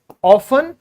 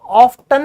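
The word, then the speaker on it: often: जैसे आपको मैंने बताया ये है ऑफन, तो इसको कई लोग क्या बोलने लगे हैं? इसको कई लोग ऑफ्टन भी बोलने लगे हैं आजकल। पहले टी साइलेंट होता था, लेकिन ओल्ड इंग्लिश में ऑफ्टन बोला जाता था।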